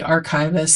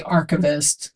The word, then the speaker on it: archivist: It actually is pronounced correctly. Archivist. Some people say archavist.